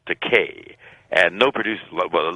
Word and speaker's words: Takei: of my name because there is a legitimate Japanese word that's pronounced Takei and it translates into English as expensive but my name is pronounced Takei and no producer well